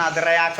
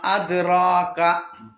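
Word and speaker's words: أدراك: അതുകൊണ്ടാണ് അദ്റയാക്ക ഓതാതെ വമാ അദ്റാക. അദ്റാക.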